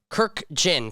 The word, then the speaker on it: Kurkjian: I have I always say Kirk Jinn Captain Kirk and the Jin you drink right do you have a a way that you tell people how to explain it I just say it's two syllables Kirk Jin that's it you can't miss it but most people do it's time for it's